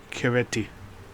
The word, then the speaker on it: Chiaretti: Before that we had Keller, now we have Marinetti, specifically his successor, Caesar, Kaiser Chiaretti. Yeah, I pronounced it with the k in it, otherwise it doesn't sound the same.